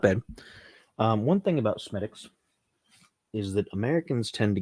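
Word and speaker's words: Smithwick's: the next one not bad one thing about smittix is that Americans tend to get the name wrong because it looks like smithwicks right it looks like smithwicks but it's pronounced smittix as far as far as the Irish are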